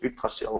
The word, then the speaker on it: Yggdrasil: This point is called Yggdrasil, which is, just to make it more fun for everybody in the world to pronounce a thing that only Danes and Swedes and Norwegians and Icelandic can pronounce Yggdrasil, which is an Old Norse tree.